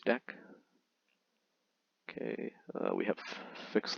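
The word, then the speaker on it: deque: for double into Q because mostly pronounce deck okay uh we have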